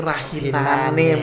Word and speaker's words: rahinane: Memang bunyi akhir a itu diucapkan kalau dia tidak diikuti oleh akhiran. Ya, kalau dia memang terbuka begitu ya. Tetapi kalau kemudian itu diikuti oleh akhiran nih misalnya, a itu kembali diucapkan a karena dia sudah tertutup kan. Dia tertutup ya, mengalami proses netralisasi karena ruas asal bunyinya memang a.